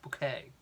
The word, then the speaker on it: Bucket: my mother hyacinth bouquet spelt B you see ket pronounced bouquet let's have a look